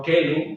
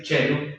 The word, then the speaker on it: caelum: Entonces va a decir no caelum, no kelum, como se decía en el latín clásico, kelum, keli, cielo, sino se va a decir chelum, chelo, ¿verdad? Chelum, como CH.